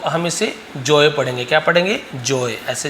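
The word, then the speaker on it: Joe: बोलो चाहे जो बोलो बट जो में केवल जो ओ रहेगा जे ओ रहेगा तो ज्यादा अच्छा है तो हम इसे जो ही पढ़ते हैं ठीक है जोय नहीं पढ के जो पढ़ेंगे तो जोय ने क्या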